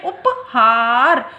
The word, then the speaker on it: उपहार: ह पे जोर देके बोले उपहार, तो वो उपहार को ठीक से समझ पाएंगे कि इसको किस तरह से लिखना है।